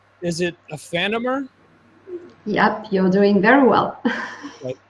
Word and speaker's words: Aephanemer: in fact you you you have to pronounce it like in french because it's like the merge of two french words so it will be